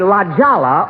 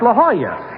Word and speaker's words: La Jolla: jolla i'm at the la jala auto cord it's a lovely place jack that's not lijala it's la jolla that's how you pronounce it in spanish oh oh i didn't